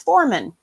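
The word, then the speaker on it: formen: Okay, this Tengwar is for north, and it's pronounced Foreman. Foreman.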